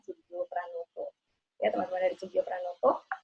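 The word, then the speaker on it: Soegijapranata: Itu saya kemarin baru berlatih cara pengucapannya, karena tulisannya Sugio Pranata, tapi ternyata dibacanya Sugio Pranoto.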